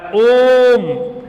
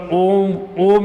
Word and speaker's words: ओम: समय खाता है यानी इस का शुद्ध उच्चारण जो होता है खींचके बोला जाता है ओम यानि या अकेले तीन मात्रिक हो गया और इसकी कोई मात्रा